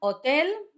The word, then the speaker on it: hotel: Hotel. Basically a hotel but with a silent H as you know.